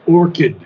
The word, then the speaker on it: orchid: to happier Spears okay the word is Orchid there no no CH is pronounced Orchid orid the or orid